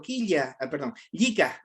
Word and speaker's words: llika: Yika. Vamos con Yika o Yika, ya dependería de dónde nos encontramos para pronunciar, ¿ya?